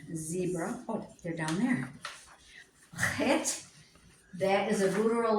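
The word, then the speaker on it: חית: Chet. That is a guttural letter, and it sounds in the throat, in the back of your throat. Chet.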